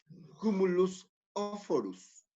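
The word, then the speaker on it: cumulus oophorus: Esa capa de células foliculares se llama, ¿sí?, cumulus oforus. Cumulus oforus. Cumulus se escribe C-U-M-U-L-U-S.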